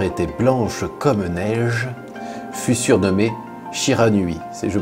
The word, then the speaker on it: Shiranui: dont la fourrure était blanche commeig fut surnommé Shiranui je prononce bien oui Shiranui Shiranui ça marche ok oui parce que tu